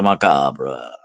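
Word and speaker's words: macabre: He was the master of the macabra. Yeah, I like to pronounce that. Macabra is the French stew and not macab is the English stew.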